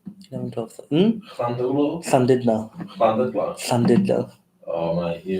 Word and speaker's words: Llandudno: Llandulo. Is that how you say it? 4, 8, 11, 12. Llandulo? Llandudno.